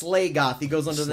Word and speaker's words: Slagoth: It's called, it's Slagoth.